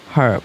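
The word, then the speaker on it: herb: অ্যান আর্ব, এটা হচ্ছে ইউএসের উচ্চারণ অনুযায়ী অ্যান আর্ব হবে।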